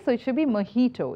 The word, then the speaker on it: mojito: so we like many of us we don't pronounce it correctly so it should be mahito it's not mojito I've even heard chefs popular chefs pronouncing this